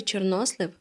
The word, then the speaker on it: чорнослив: правильно казати вжити заходів який наголос неправильний вірші чорнослив донька у слові чорнослив правильний наголос на другому складі на даний моментпере до